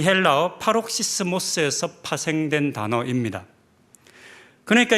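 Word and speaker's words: παροξυσμός: 이 단어의 헬라어는 파록시스모스라고 읽는 단어입니다. 좀 어렵게 읽어집니다.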